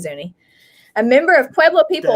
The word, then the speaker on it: Zuni: definition of zoo actually it looks like it's pronounced zune instead of zuni if i'm reading the pronunciation thing right let me actually let me just zuni oh no it is zuni a member of pueblo